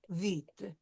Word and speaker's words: vite: So, and with the vite, we won't pronounce the E. It will be silent. Sure. Elle a parlé trop vite.